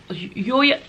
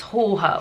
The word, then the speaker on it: Jorge: This one I think is called Storm Jorge, or Yoya. It looks like it says George with a J, but I saw that it's pronounced Jorge or Hoye something.